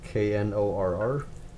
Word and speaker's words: Knorr: The other brand that I saw was Knorr, or is it Nor? I'm pretty sure that's the one brand where the K, it's actually pronounced out loud, Knorr.